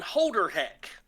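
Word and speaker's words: Holderhek: ata um i'm not a game can you spell that for me yes um ata atta and then holder heck um h-o-l-d-e-r h-e-k holder heck all right cool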